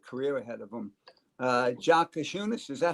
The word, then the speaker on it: Giannis: Uh Jounis, is that how you say his name? Yeah, you're the right. It's it's it's silent on the Jay, but you're getting there, coach.